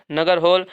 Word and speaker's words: नागरहोल: और देखिए नगर से हो गया नगरहोल, इसको कहते हैं नागरहोल राष्ट्रीय उद्यान, का साइलेंट है।